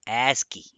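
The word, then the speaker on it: ASCII: first of all stands for or it is pronounced as aski and it stands for americ American Standard code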